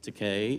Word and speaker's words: Takei: Here's George Takei, it rhymes with decay, a book in which um he talks about, you know, one young man lusting after another.